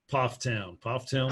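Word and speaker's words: Pfafftown: Pofftown, North Carolina.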